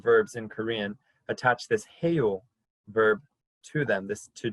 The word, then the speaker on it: 해요: Kerr will show you the pronunciation, and then you can follow after her. Heyo. Heyo. So it's heyo, and Dr. Kerr will show you the pronunciation. Heyo. 해요.